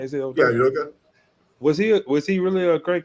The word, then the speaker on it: Udoka: Yeah, Udoka.